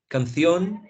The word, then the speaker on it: canción: Canción, gracias, something like that. Canción, gracias. Emoción, anything that ends in ción, they produce a theta, right?